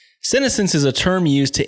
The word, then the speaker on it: senescence: To understand this, we'll have to first look at, how would you pronounce that? Senescence? Senescence. Senescence is a term used to indicate gradual deterioration of the body with age.